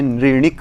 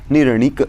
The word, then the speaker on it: निर्णिक: इसको क्या कर देंगे, ऐसे कई लोग पाठ करते हैं नृणिक। तो ऐसा नहीं करना है। यहाँ पर न में जो ई है उसका यहाँ पर ह्रास, यानी कि अमूर्धन्य को हमने यहाँ पर मूर्धन्य बना दिया है। तो इस तरह से हमें पाठ नहीं करना चाहिए। उसको निर्णिक इस तरह से प्रयोग होगा, परंतु कुछ जन